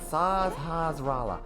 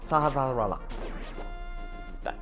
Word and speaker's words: Sahasrahla: How do you even pronounce that? Sahasrahla. Sahasrahla.